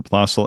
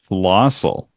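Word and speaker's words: Plössl: to, and they had the strangest mispronunciation for Plossel. And I mean, maybe I'm off on this one, but they pronounced it as Flossel.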